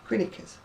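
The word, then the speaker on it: Greenacres: oldham that's called well it's written green acres but it's actually pronounced to be quinnicus and then there's a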